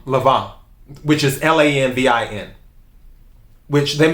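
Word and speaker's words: Lanvin: and that's not it the n in french is usually silent just like um lavon which is l-a-n-v-i-n which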